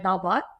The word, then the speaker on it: dal bhat: Yeah, you said it right, dal bhat.